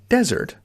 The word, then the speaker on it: desert: So desert with a Z sound, Z, is dry, sandy land.